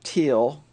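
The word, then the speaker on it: Thiele: a couple of guys Neville teal pronounced with a t and Richard Small oh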